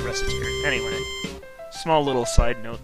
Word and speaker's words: Recettear: the general idea now I'm not actually sure if I'm pronouncing reer right um I've heard it pronounced reaer which is closer to the pun they try to make on racketeer but I can't pronounced rett's name as rette it doesn't make sense so I pronounce it reter anyway small little side